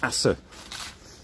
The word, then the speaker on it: Asse: we going to Assa it's AWS e H they pronounce the E uh here in in Belgium so it's Asa oh what I need